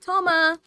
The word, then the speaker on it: Toma: gotten to know recently I was right I pronounced his name right Toma you don't know how long I've been waiting